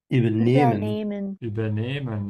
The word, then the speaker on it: übernehmen: Übernehmen, yeah. And we emphasize nehmen because this is not a separable verb.